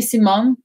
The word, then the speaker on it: Simone: when they speak spanish it's mostly simone so it's without the e at the end but the way the dutch people will pronounce it would be simone simone and in germany